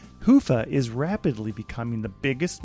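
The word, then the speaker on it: Hyvä: Commerce is sponsored by hia or as the Europeans say HOA or the right way to say it hufa is rapidly becoming the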